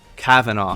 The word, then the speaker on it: Kavanaugh: My name is George, and this is, help me with your pronunciation. Kavanaugh.